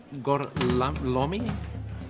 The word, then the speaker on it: Gorlami: Lo pronuncio correttamente? Sì, corretto. Gorlami?